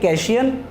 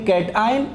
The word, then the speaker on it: cation: कैशियन और एक एयन अक्सर बच्चे जब पहली पहली बार इसको पढ़ते हैं तो वो इसी तरीके से इसको प्रोनाउंस करते हैं इनकी दुरुस्त प्रोनंसिएशन ये है इसको पढ़ेंगे कैटा आइन और इसको एन आयन तो कैट आयन को